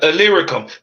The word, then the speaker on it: Illyricum: How do you pronounce that? Illyricum.